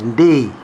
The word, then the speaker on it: Ndii: And then all that changed the minute they discovered that actually this Ndii, his name is pronounced Ndei, yeah?